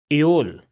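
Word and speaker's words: Öl: And the last example which is oil in English will be pronounced as aol.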